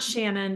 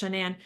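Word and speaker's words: Shanann: shanan Watts shanan yes it's not Shannon but it's shannan she did have a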